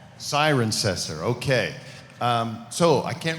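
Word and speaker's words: Cirencester: I couldn't pronounce it how do you pronounce that it's siren sester siren cesser okay um so I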